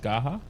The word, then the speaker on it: Garra: oh quick question though um is it it's pronounced gaha yeah is there a meaning but no i was in brazil yeah i got used to gara yeah how many times did people thought the